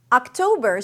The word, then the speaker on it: October: October starts with the ah as in father sound, so you want to drop your jaw. Ah, ah, and then a k sound. Oc. Toe is the primary stress, a T sound, then the O as in go.